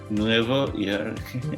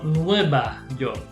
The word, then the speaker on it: Nueva York: How do you say New York in Spanish? Nuevo York. No, Nueva York. Nueva York.